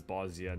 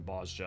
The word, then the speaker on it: Bozja: will be saying bosia because in 5.4 we actually get merlip saying bosia out loud and she says Bosnia rather than Basia or boja or any of that so that will be the pronunciation I'm going with okay welcome to the